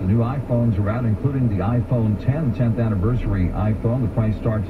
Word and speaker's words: iPhone X: next year of the iPhone X which is pronounced iPhone 10 by the waves the Roman numeral X they